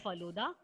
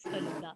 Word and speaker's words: Feluda: Don't pronounce it as Faluda. That is Feluda.